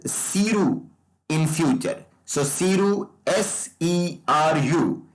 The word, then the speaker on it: SERU: So SERU, S-E-R-U. It will be pronounced as SERU in future.